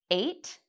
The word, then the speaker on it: ate: The beginning of this word, eight, sounds like the letter A. A, eight.